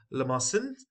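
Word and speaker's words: limaçon: left is basically okay it's pronounced as lemon or lamason so the C over here is as s you know this is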